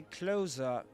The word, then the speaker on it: closer: And when you say closer, this is closer eye. Just so you know, in standard Southern British English, or in RP, received pronunciation, this accent, you don't pronounce the letter R at the end of a word. You don't usually pronounce it, except there's a vowel sound right after it.